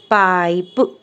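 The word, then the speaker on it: pipe: क्या रीड करेंगे पाइप ई letter silent रहेगा और वो ई का जो फोर्स है वो आई पे देगा आई अपनी लॉन्ग वोवेल साउंड निकालेगा और यह रीड होगा पाइप नॉट अ पिप clear next O आई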